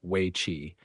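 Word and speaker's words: weiqi: each civilization China's most enduring game is Wei pronounced roughly we chi and often known in the west by A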